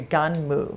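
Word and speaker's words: Gunnm: I did not I learned today it's actually ganmo ganmo ganmo is how you pronounce it okay uh I was say G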